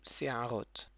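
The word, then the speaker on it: שער: Ça s'écrit avec un sin, le point en haut à gauche, qui est ponctué par un tséré. Donc ça fait Se. Ensuite on a un aïn avec un kamatz.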